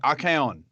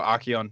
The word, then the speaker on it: Archaon: Like Archaon would be, or Archeon, however you'd like to pronounce him, is one for me.